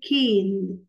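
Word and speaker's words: cane: هتكون كين. كين اللي كسرها، اللي كسر ال اللي في نصي، ال اللي في الاخر. ال اللي في الاخر ما بتنطقش لكن لها وظيفه في النطق.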